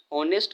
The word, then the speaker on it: honest: पहले एन लगा, क्यों, क्योंकि ऑनेस्ट का जो उच्चारण होता है हम होनेस्ट नहीं करके ऑनेस्ट करते हैं, जो कि अ